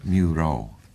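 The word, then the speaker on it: Mureau: Oui, ça s'appelle Muro. C'est le premier syllabe de le mot musique, même en français. Et le dernier syllabe, le deuxième syllabe du nom Thoreau. Quelquefois on dit en anglais Thoreau.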